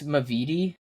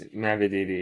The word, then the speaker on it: Mavididi: Is this Mavidi? Mm-hmm. It is? Nice. Mavididi. I'm on the board. It's Mavididi. Yeah. I can't pronounce it.